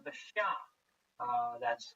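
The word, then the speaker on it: Xia: uh in Chinese history which is called the Sha uh that's spelled x a modern Western romanization opinion of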